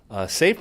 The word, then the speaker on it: SCIF: is doing that is called the safe project SCIF pronounced safe it's sponsored by PayPal